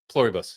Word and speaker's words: Pluribus: I don't even know how to pronounce it. Is it Pluribus? Pluribus, yeah.